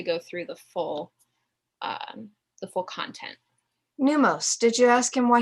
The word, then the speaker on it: Pneumos: Neumos. One more time for dyslexia guy. P-N-E-U-M-O-S, like pneumonia.